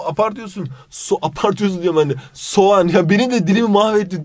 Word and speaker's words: soğan: Sarımsak yanlış yazılışı ve okunuş oluyor. Onion'a baktığımızda onion nedir biliyor musun Tavuç'um? Sogun. Sogun diye bir şey oğlum, apartıyorsun. Apartıyorsun diyorum ben de. Soğan ya, beni de dilimi mahvettin Tavuç.